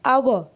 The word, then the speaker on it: hour: But see, an hour, a sound is there, okay, and this H is silent, so hour only we